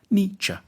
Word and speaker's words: Nietzsche: to pronounce his name the first bit should sound like knee the second like cha nietzsche then we need to